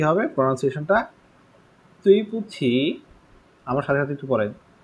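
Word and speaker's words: 对不起: তাহলে এখানে কি হবে প্রনাউন্সিয়েশনটা, তুই পুছি, আমার সাথে সাথে একটু পড়েন, তুই পুছি, সবাই একটু প্রোনাউন্স করেন, আনমিউট করে দেন, স্টুডেন্ট কম পাস,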